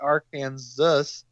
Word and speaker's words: Arkansas: The Arkansas River. uh may be the only river whose pronunciation changes as it crossed state line. In can in Kansas it is called the Aran Zus uh river and then um both